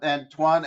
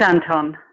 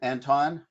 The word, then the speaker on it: Anton: David thank you um andan am am I pronouncing your name correct first it's Anton Anton yes yeah this is